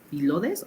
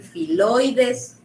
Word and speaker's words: filodes: ¿Filodes o filoides? Filodes. Le puede decir filodes, le puede decir filoides.